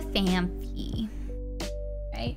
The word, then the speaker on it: Phanpy: one is my favorite it's a fan fee phanpy it's spelled like fam fee and I love it